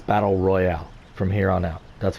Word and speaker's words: battle royale: that i mispronounced it it's not battle royal it's battle royale there's an e at the end of it so i'm i'm trying